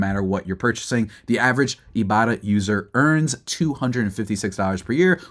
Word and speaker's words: Ibotta: The average Ibarra user earns $256 per year, which can cover an entire trip.